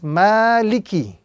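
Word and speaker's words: مَالِكِ: So the proper pronunciation is maliki. Maliki with emphasis on the first letter.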